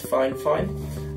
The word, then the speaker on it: FiFine: despite by that it says fine fine the pronunciation for the brand is fine fine and that's what they told me when they